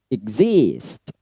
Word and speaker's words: exist: Yang ketiga untuk exist itu pada zis-nya yang di stressing ya. Kalau ik-nya dia rendah. Jadi cara bacanya adalah exist.